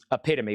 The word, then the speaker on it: epitome: Epitome. We actually looked that up earlier, Tony. It's actually pronounced epitome.